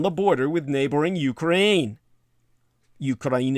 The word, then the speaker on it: Ukraine: border with neighboring ukraine ukraine is the correct pronunciation and the polish security